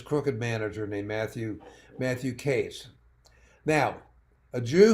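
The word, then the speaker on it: Katz: manager named Matthew Matthew case now a Jew who spells his name Kats and pronounces as Cas I should have been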